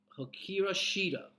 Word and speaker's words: Hikaru Shida: I cannot pronounce her name. Hikaru Shida.